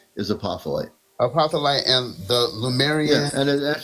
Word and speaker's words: Lemurian: Lemur. Oops. It's Lemurian, just so you know.